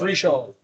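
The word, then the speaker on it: Richard's: koala I use uh Richards r i c h a r d Richard spelled Richard pronounce reard but you can use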